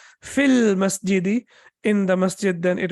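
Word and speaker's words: في المسجد: Similarly, we have al-masjidu, and al-masjidu, as we know, the masjid. And when you say fi, and then after that al-masjidi, and when you pronounce it as a complete construction, you will say fil masjidi, in the masjid, then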